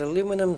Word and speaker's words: aluminum: make sense don't they cuz aluminum sounds like potassium potassium aluminum but then you've got aluminium with sodium geranium so yeah 2.4 ruthenium I